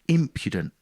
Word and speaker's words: impudent: once i learned that i knew it was imp impudent with the emphasis on the first syllable which you would never